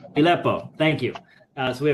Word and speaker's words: Fileppo: And Guido, you're going to have to say your last name for me because I can't pronounce it. Filpo. Filipo.